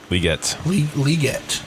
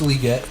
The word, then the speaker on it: Legette: He said that's how you say it. I'll respect him. Legette. I like Xavier Legette better. But he says it's Legette, so we'll go with it.